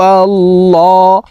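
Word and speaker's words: الله: বলে পড়তে হবে কারণ আল্লাহ শব্দের আগের হরফে জবর অথবা পেশ হইলে এই লামকে ল অর্থাৎ মোটা করিয়া পড়িতে হয় তো ল বলে পড়বো কুল হু আল্লাহ হা পেশ হু কুল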